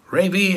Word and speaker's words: Ravy: greg menace and ravy ravy as rhymes with gravy i guess anyway what